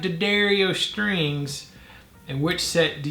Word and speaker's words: D'Addario: Jim D'Addario says D'Addario. So the guy whose name is the company's name and runs the company probably knows how his name is pronounced.